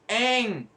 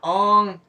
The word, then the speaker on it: Aang: Just make it Aang, not Ong, or mispronounce other names.